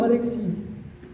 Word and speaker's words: Alexis: d'Alexis Alexis d'accord mais comme on est du Sud nous je prononce tout alors Alexis nous avons décidé à